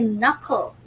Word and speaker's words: knuckle: correct this is a knuckle knuckle is spelled us if you have noticed it not all the words were red the first letter k wasn't red at all c and k were